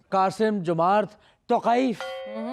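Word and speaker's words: Қасым-Жомарт Тоқаев: قاسم جمارت توقائف. توقائف تو ہے قے ہے بے.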